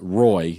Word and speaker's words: Roy: So you had it's pronounced Roy if you want to be American, the goalie for the Avalanche Patrick back Roy. in the day. I thought it was Patrick Roy. Is it not French?